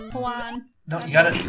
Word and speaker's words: Juan: Oh yeah, H's are silent. Oh, okay. J's are H's. Yeah. Like, Juan.